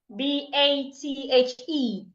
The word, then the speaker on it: bathe: The second one, B A T H E. Bathed. They aren't pronounced the same way. Bath. Bathe.